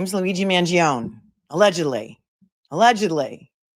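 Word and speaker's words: Mangione: please tell everyone that his name is pronounced mangion it's not mangioni it's mangion some of my Italian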